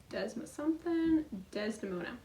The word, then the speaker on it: Desdemona: Desdemona.